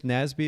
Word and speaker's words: Nasby: on now nasby and am i pronouncing your last name correctly it is nasby is that right yeah you got it okay